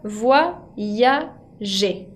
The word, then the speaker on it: voyager: groupe, como dijimos antes, y se pronuncia voyager. La Y que está ahí sirve como si fuera una I y sirve tanto en la primera sílaba, voi, como en la segunda, ya.